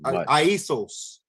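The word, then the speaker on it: Ἰησοῦς: Aisos is how they say it in the Greek.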